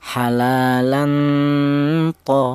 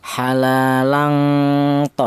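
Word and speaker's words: حلالا طيبا: Jadi cara bacanya yang lebih kuat adalah tingkat samarnya halalan th seperti itu. Jangan yang lebih dominan tingkat dengungnya seperti ini. Halalan tho jangan.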